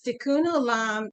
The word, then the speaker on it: Tikkun Olam: Tikkun Olam, if I'm saying it correctly, right? Yes, Tikkun Olam it means to heal the world.